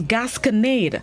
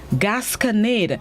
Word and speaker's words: gasconade: start this morning's word of the day is gasconade gascanade it's spelled g-a-s-c-o-n-a-d-e gasconade it is unknown which means